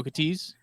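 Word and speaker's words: Okeetee: the okiti Hunt Club which is spelled okay e-e-t-e-e but I don't know anybody that actually pronounces it phonetically like that like I always just call them okates which just like the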